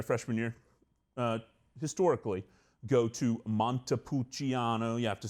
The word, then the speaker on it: Montepulciano: also, during their freshman year, historically, go to Montepulciano. You have to say it like this. You have to put your hand out. Montepulciano. I don't know why Casey didn't do it earlier. But Montepulciano, Italy.